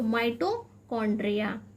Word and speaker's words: mitochondria: तो यहाँ स्पेलिंग का थोड़ा सा आपको ध्यान रखना है, यहाँ पे हमारा एच जो है वो साइलेंट है, इसलिए हम इसे को पढ़ते हैं। तो माइटोकॉन्ड्रिया, हिंदी में हम इसे माइटोकॉन्ड्रिया भी कहते हैं।